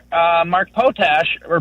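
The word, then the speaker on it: Potash: And and I don't understand why guys like uh Mark Potach or Podash, I've never heard I've never heard someone pronounce his name. Potach.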